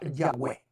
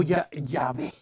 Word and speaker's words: Yahweh: Cada idioma, cuando lee este nombre, lo va a pronunciar fonéticamente a su manera. Lo va a pronunciar a su manera. Así que en hebreo lo más correcto es la palabra Yahweh. O Yahvé. Yahvé o Yahweh en hebreo.